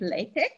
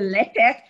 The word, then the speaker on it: LaTeX: have just you know mentioned here how we pronounce it it's latex not lettuce invariably almost all new grad students will say latex and it gives me a rubbery feeling that's